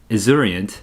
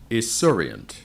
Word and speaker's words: esurient: Esurient. Hey, let's hear the pronunciation. Esurient.